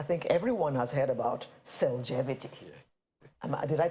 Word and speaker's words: Cellgevity: I think everyone has heard about Cellgevity. Yeah. Did I pronounce it right? Yes, exactly. You are right. It's yes. Cellgevity.